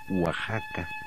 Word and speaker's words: Oaxaca: el sol Jaguar Oaxaca se pronuncia Oaxaca el hotel al que